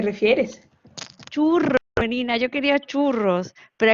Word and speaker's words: churro: Churro, menina, yo quería churros, pero aquí como la eje fuerte la pronunciamos como J y vuestra she como shu, pues me salía a decir churro.